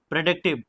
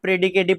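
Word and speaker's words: predicative: के केस में होगा प्रेडिक्टिव। ठीक है, ये बहुत से स्टूडेंट प्रेडिकेटिव पढ़ते हैं, प्रेडिकेटिव नहीं है, राइट प्रोनाउंसिएशन है प्रेडिक्टिव।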